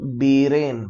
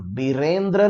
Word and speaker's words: बीरेन: एन बीरेन, बीरेंद्र नहीं, बीरेन Singh, right.